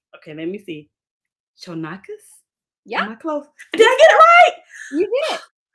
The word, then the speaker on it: Chonacas: And I saw a lot of your info, but no pronunciation of the name. So I'm like, I'm looking at it. Chonacas.